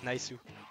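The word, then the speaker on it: ナイス: How do you say nice in Japanese? Naisu. That's all. You just say naisu.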